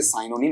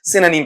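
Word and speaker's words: synonym: इसका उच्चारण भी करें तो बड़ा ढंग से कर लेना, इसे साइनोनिम नहीं पढ़ेंगे, क्या पढ़ेंगे आपका, सिनोनिम पढ़ेंगे।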